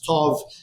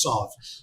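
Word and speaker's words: תו: letter Thav in Hebrew, which the Sephardim pronounced as Tov, and the Ashkenazim as Sav.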